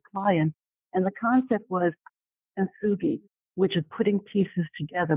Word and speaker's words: Kintsugi: Kintsugi. Kintsugi. Thank you. There's no T in it. I don't pronounce the T.